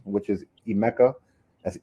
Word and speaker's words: Emeka: Even Google, wherever you want to go, just type in my full name, which is Emeka. That's Emeka. And then my last name is, which is spelled M for Mary, B for boy, A for apple, D for David, IWE.